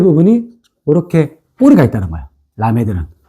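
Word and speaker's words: למד: 라메드는 자 라메드 요렇게 돼요.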